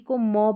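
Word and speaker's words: comb: पर पहुंच गए हैं तो एम बी को म पढ़ना है क्योंकि एम जो है इसका उच्चारण हो रहा है बी यहां पर लास्ट में जो आ रहा है ना यह साइलेंट है क्लाइम हो गया कॉम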